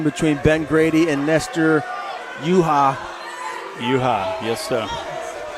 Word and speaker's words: Yuja: Third round action between Ben Grady and Nestor Yuja. Yes, sir. I believe the J is silent.